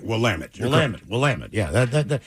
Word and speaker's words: Willamette: Willamette. Yeah, Willamette. Rhymes with damn it. Right, Willamette.